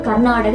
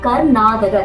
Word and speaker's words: கர்நாடக: அந்த வார்த்தை கர்நாடகம் பழமையான இசை பழமையான சங்கீதம் அதாவது கர்நாடக இசை அப்படின்னு நம்ம சொல்றோம் ஆனா நம்ம திராவிட மொழியில நம்ம அதை ஸ்பெல் பண்ணும் போது அதாவது உச்சரிக்கும் போது நம்ம அதை எப்படி சொல்லணும்னா கர்நாடக கிடையாது கர்நாதக கர்நாடக இசைன்னு சொல்றோம் ஆனா நம்ம திராவிட மொழியில நம்ம